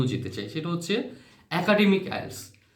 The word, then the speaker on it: IELTS: language testing system আইএলটিএস আমরা আইএলটিএস হিসেবে উচ্চারণ করে থাকিং অনেকে আমরা আইএলস বলি হ্যাঁ আইলস সুতরাং সংক্ষেপে আমরা বলি